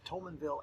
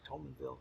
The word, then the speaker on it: Thomasville: a fundamentalist Bible fundamentalist she went to the Tollman Vil Alabama Southern missionary I see what was it she went to the Tollman valve Alabama Southern Missionary Baptist Church and you better say it right Thomasville Alabama southern Missionary Baptist Church and she went